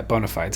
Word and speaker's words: bona fides: Yeah, bona fides.